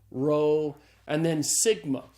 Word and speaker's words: sigma: P ro and then Sigma Sigma is the S sound in Greek so Sigma's pronounced like the s in the English word study one of the things